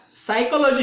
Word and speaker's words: psychology: उसी प्रकार साइकोलॉजी शब्द है, PSYCHOLOGY, ये अंग्रेजी का शब्द है। साइकोलॉजी शब्द में P का उच्चारण लगभग न के बराबर वहां पे हो रहा है।